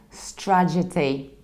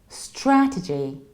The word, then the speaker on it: strategy: what happens is that people confuse the syllables and as a result they say strategy however its strapped to G strategy strategy and in the